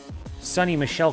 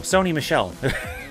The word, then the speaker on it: Sony Michel: Yeah, man, you should hop in just to see if I can pronounce Sonny Michel correctly. No, Sony Michel. See, I did it wrong.